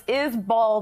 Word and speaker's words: Isbell: It's Isbell, not Isbell.